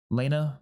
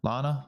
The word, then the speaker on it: Lana: fun but obviously uh Lana returning Lena Lana I'm never going to say her name right ever I don't think um no l because it's banana you I have to say banana beforehand and then I can say it properly right um so I